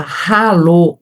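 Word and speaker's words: Hallo: E para falar ralô e hais, ralô e você tem o som de o rato ru a roupa do rei de Roma. Então esse som em alemão é uma palavra que começa com H.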